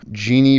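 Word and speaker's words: Djini: next episode so stay tuned for that everyone Genie and I pronounced it correctly that is correct yeah Genie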